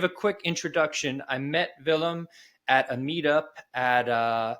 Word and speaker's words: Willem: excellent um will uh I'm sorry I said William villum um who is from